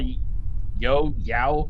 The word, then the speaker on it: Yeoh: Speaking of spin-offs, apparently that Section 31 spin-off with Michelle Yao, I'm not sure how to pronounce her last name, is still in development. Yeah. Yeah, it's Michelle still- Yeoh.